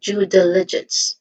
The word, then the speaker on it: due diligence: stresses is undue and of course the first syllable of the word diligence still so this is due diligence again due diligence lastly we have ethics this